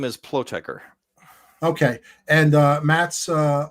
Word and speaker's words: Plotecher: Last name is Pleker.